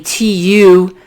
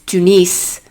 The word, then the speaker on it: Tunis: It's not like phonetically Tunis. It's Tunis.